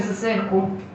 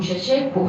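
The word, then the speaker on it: Ceaușescu: Y de todas formas, el régimen de Ceausescu, o Ceausescu se pronuncia, fue tan terrible, sobre todo yo encuentro para las mujeres, que a uno le eriza la piel.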